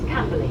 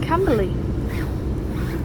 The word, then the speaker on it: Camberley: Because its station sounds like, because when you say early, it sounds like E-R, but not E-A-R. Or Camberley anyways. As I'll say, it sounds like E-R, early. But it's spelled with A.